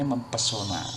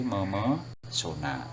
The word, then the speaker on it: memesona: Kemudian apalagi yang sering salah itu pesona biasanya mempesona, padahal kan itu pasti dia luluh itu secara rumus kebahasaan. Jadi bukan mempesona tetapi memesona, jadi begitu.